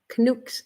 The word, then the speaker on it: Canuck: You got a block Canucks.